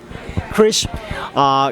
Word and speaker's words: Kriz: more yes sure absolutely my name is chris and it's spelled k RI z ROG ers and I'm